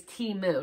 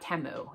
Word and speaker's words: Temu: how to pronounce it it is timu not temu it is Teemu um